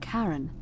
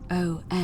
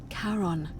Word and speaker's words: Charon: The name you heard wasn't Karen. It was Charon. Yes. As in Charon, the ferryman of the dead.